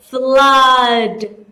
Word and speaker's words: flood: Flood.